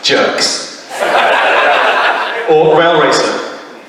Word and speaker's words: JRX: JRX, pronounced jerks.